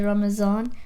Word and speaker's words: Ramadan: the arabic word so some people pronounce it differently as well it's like in urdu that some people say ramazan ramzan or something like